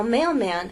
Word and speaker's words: mailman: Now, mailman actually has two syllables, mailman. We can divide it right there, mailman. So L is followed by a consonant, but really it's the end of a syllable. The same thing happens here. You need to keep the tip of your tongue pressed against the bump behind your upper teeth. Mail, man. It only comes away when you finally get into the second syllable to make the M.